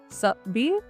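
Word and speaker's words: s'habiller: सापी, साबी। अब देखिए, यहाँ पे एक चीज का ध्यान रखिएगा, हेयर एच इज साइलेंट। मैंने आपको अपने पहले वीडियोस में भी बताया है, एच हमेशा साइलेंट रहते हैं।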